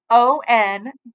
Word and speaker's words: Henri: He pronounced his name Onree.